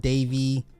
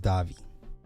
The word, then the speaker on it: Davi: Robert Davi Robert Davi Robert Davy I think it's pronounced Davi Robert Davi went on